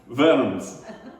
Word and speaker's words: Worms: its worms how do you say it worms verms okay so this is a city martin of